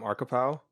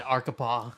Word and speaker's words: Arkapaw: I said it wrong last episode. I Yeah. said Arkapaw. That's a Arca Jason. power. I would Yeah. have thought that's Arkapaw, Yeah. to be fair. Yeah, to be fair, It's spelled ARKAPAW.